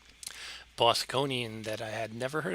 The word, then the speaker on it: Bosconian: blocky but that's okay bosconian not bostonian they pronounce their r's